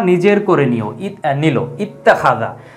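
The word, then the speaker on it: اتخذ: কোনো শব্দ নেই, তখন কিন্তু এই হামজাতুল ওয়াসলের উচ্চারণ হতো, তখন কিন্তু ইত্তাখাযা আমরা এইভাবে পড়তাম।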